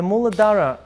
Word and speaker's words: Muladhara: And the red chakra is the Muladhara. Is that the right one? Am I pronouncing it correctly? Yes. Okay. So the Muladhara chakra is the base level of the energy.